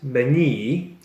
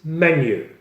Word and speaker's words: menu: of dishes and price it's not many by its menu in the menu we